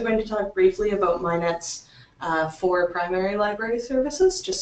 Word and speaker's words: MHIKNET: So it's pronounced MHIKNET, first of all, not MHIKNET, and it's Manitoba's Health